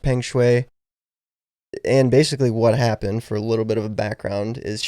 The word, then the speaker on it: Peng Shuai: I heard it pronounced Peng Shuai.